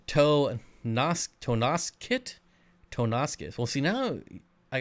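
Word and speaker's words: Tonasket: tell you that much it's pronounced tana skit tana skit well why do they put an o in there freaking english that's stupid bob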